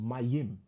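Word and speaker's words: מים: And it's pronounced Mayim.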